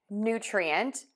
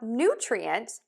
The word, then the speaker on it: nutrient: New, new. Yes, it's just like the word new. For nutrient, next we are going to move to the tree syllable.